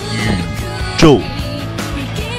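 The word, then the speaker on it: 宇宙: 宇宙，注意我的发音，宇宙，一乌宇之欧宙，对不对？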